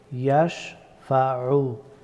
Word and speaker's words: يشفع: ইয়াশফাউ, আইন হরফটি গলার মধ্যখান থেকে উচ্চারিত হয়।